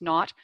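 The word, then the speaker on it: R₀: There's a measure called R naught. It's written R sub-zero, but it's usually pronounced naught, which is how many people one infected person spreads a disease to on average.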